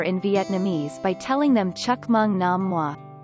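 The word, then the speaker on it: chúc mừng năm mới: vietnamese by telling them chuk mung nam moi pronounced roughly as it is transliterated the greeting sounds like chuap mung nam moi new year foods in vietnamese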